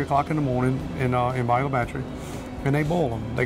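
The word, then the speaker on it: Bayou La Batre: So we went to Bayou Le Batre. That's right. Did I pronounce that right?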